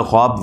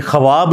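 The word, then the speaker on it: خواب: 46 वन हिस्सा है यह ख्वाब नहीं पढ़ा जाता वैसे उर्दू में चल भी जाता है लेकिन यह लवग है ख्वाब तो वह उसमें फिर साइलेंट हो जाति है तो यह बट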